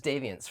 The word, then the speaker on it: DVNTS: Yeah, this is Deviants from the Central Coast. It's spelled yeah. DVNTS.